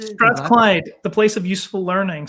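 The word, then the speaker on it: Strathclyde: And then was it sorry how do you pronounce the name of the university that you went to Strathclide is it Strath Clyde the place of useful learning so they say.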